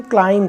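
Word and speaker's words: climb: next word आपका है सी एल आई एम बी तो बी से पहले एम आ गया तो इसको हम क्लाइम कहेंगे क्या पढ़ेंगे क्लाइम बहुत सारे इसको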